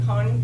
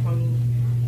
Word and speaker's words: Kony: I'm going to start saying Kony because that's how you say it in Acholi.